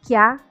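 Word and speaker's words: きゃ: Kya, bukan kia, perhatikan, bukan kia tapi kya.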